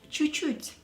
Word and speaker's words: чуть-чуть: Чуть-чуть. You can hear that I'm not pronouncing two last letters of the first чуть. So it's чуть-чуть.